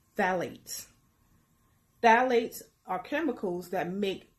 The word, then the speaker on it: phthalates: The P-H is silent and is pronounced phthalates.